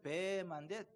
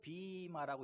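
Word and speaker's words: βῆμα: 사도 바울이 서서 복음을 증거하던 그 강단을 비마라고 하는데, 원래는 베마인데 비마라고 읽더라고요.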